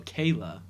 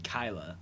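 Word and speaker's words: Kala: i think that neutrino kayla kyla kyla is how you say it and um michelangelo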